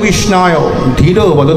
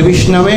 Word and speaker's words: বিষ্ণবে: যখন আমরা দিই তখন মন্ত্রটা থাকে ওম শ্রী বিষ্ণবে নমঃ বলে তাইতো কিন্তু মূর্খ ব্যক্তি উচ্চারণ করেন বিষ্ণায় নমঃ ভগবান তার অর্ঘ গ্রহণ করেন